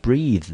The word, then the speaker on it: breathe: breathe 这个字后面多一，它的发音是不一样的，这个也是呼吸，但是呢它的发音跟它的拼法啊，拼法呢多了一个一。breath 念成 ea，念成 a 的音，就是那个倒三的 a。ea breathe 呢念成异常音，念成 E, breathe.